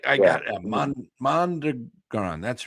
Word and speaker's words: Mondragon: Mondragon. That's right. I always forget how to pronounce it.